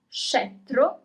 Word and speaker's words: scettro: Okay, you pronounce all the letters. Scepter, scettro, scettro.